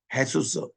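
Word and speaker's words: Jesús: 여기도 보면 트리니다드로부터 한 10km 떨어진 또 엔카르 나시온에서 42km 떨어진 그것은 헤수스. 헤수스는 예수님을 이 스페니시로서는 헤수스라고 읽어요. J를 H 발음 걸로 읽습니다.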